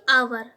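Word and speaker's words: hour: नहीं ऐड किया है यहां पर साइलेंट है क्या इसको प्रथम आवर यानि कि घंटा आवर पढ़ते इसको देखिए साइलेंट तो आया है पहला साउंड आपके मुंह से क्या निकल है आ क्या निकला आवर तो आया है तो हमारा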